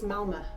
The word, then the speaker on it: Malmö: to malmo park one it's not malmo it's malma malma i've been saying it wrong and but there's a